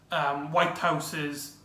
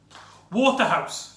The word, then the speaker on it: Waterhouse: more to do with Whitehouse's acting. Is it Whitehouse? Sorry, I think I got the name wrong. Waterhouse, sorry. Waterhouse.